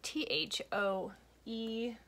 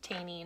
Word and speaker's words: Thoene: The name is spelled T-H-O-E-N-E, pronounced Thoene, not Thoene.